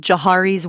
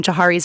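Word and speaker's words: Johari: Uh, and there's a really cool tool for self-awareness called Jiari's window, which you can read about online, and then it's a little exercise that you do.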